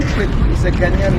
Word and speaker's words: Kweku: The name Kweku is a Ghanaian name, born on Wednesday, but the Kweku was corrupted into Kwak. Like British could not pronounce our names properly. So instead of Kweku, they said Kwak.